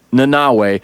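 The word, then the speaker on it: Nanaue: they say his name it's like an n and a bunch of vowels and so i put on the the subtitles and it's nanawe which a lot of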